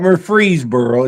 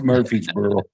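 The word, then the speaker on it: Murfreesboro: It's not freezeboro. It's Murphy'sboro.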